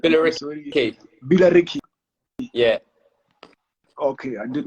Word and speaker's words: Billericay: Okay, so we were talking about you being successful with the I don't know how to pronounce the females team. Like, Billericay.